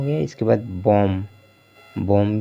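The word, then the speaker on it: bomb: को नहीं पढ़ना है इसलिए बी यहां पर साइलेंट है लैम हो गया ठीक इसी तरह से लैम हो गया इसके बाद बम बम भी इसी तरह से पढ़ा जाए कॉम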